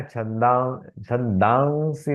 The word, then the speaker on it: छन्दांसि: अच्छा, ये जो पहला है ना, छंदांसी नहीं, छंदांसी, वो अच्छा। वहां थोड़ा वो का उच्चारण आएगा। हाँ। ओट को चंचू बनाना, लेकिन वहां लिखा नहीं जाएगा, लेकिन वो छन्दांसि बोलते वक्त वो का उच्चारण।